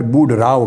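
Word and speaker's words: Boudreaux: राव Edward बुड राव बुड राव का spelling भी note कर ले यह मुख्तलिफ है साउंडिंग से वह है बी ओ यू डी आर ई ए यू एक्स मगर एक्स साइलेंट है बोलने में तो एडवर्ड बुड राव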